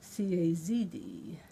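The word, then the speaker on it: CASD: everyone calls it cast she pronounced the acronym CAS D as if it were spelled C azd we're trying to preserve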